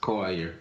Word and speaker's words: Coiler: That's pronounced Collier. Collier. Yeah. Collier, Coiler. Okay.